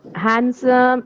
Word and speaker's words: handsome: What about what about this one or even handsome? This one. Okay. Handsome and sandwich here. D is silent.